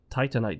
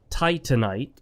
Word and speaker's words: Titanite: I think it's clearly based on the word titanium.